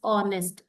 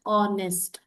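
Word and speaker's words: honest: ಆನೆಸ್ಟ್ bat game okay here ಆನೆಸ್ಟ್ ನೋಡಿ hಚಓಎಸ್ಟಿ ಅಂತ ಇದೆ ಬಟ್ ವಿ ಡೋಂಟ್ pronouns it ಇಸ್ ಆನೆಸ್ಟ್ V read it ಆಸ್ ಆನೆಸ್ಟ್ okay ಸೋಹಚ್ is silent word ಸನೆಸ್ಟ್ ಇಸ್ the word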